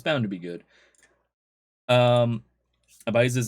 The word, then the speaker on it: Ibiza: to be good um abises in spain pronounced ibiza okay uh a well-known